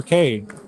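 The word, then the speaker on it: Cai: Uh spelled C AI or pronounced K like a letter. Um men are K, women are ki. It's what I've been told.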